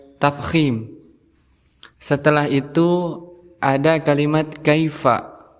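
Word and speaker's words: كَيْفَ: setelah itu ada kalimat Kaifa ada Ya Sukun sebelumnya berharakat fathah maka kita hukumnya sebagai ya huruf layyin setelah itu Fa di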